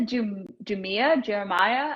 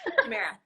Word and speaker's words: Jumeirah: I went to the Jeremiah. How do you pronounce this? Jumeirah.